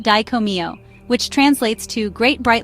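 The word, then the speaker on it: Dai Ko Myo: The powerful Raiki master symbol is pronounced diccomio, which translates to great bright light or great shining light.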